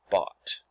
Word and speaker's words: bought: here at the end o u g h in this case makes an ah sound so we've got ah four letters one sound bought so you'll be copying